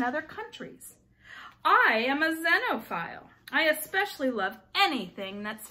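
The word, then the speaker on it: xenophile: again it's start with starts with an X but it's pronounced with a Z sound a dino file is a person who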